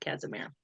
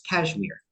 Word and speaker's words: Casimir: So tell us what that was about, Lord Casimir. So a little bit of backstory. It's very typical for people to mispronounce my name as cashmere, like the wool or the sweater material.